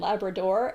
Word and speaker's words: Labrador: It's called Newfoundland and Labrador, and they both get final stress.